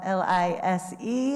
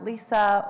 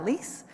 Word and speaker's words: Lise: It is actually spelled L-I-S-E. It is pronounced Lisa or Lise, but I get called Lise all the time, so if you can avoid that, that would be awesome.